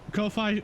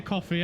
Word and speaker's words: Ko-Fi: Ko-Fi streambot. Ko-Fi streambot. I didn't say coffee, I said Ko-Fi, I swear.